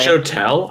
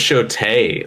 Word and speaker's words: Shotel: It's show-tell? I thought it was show-tay. Like, I was jokingly saying it wrong. Oh. Is it Shote? It's just S-H-O-T-E-L.